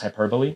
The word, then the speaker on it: hyperbole: want to say hyperbole but i know it's pronounced hyperbole sure but it's high i like to say